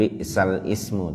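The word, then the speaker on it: بِئْسَ الِاسْمُ: Nah, itu bacanya bi'salismu. Jadi hamzahnya diringankan, bukan bi'sal ismu tapi bi'salismu.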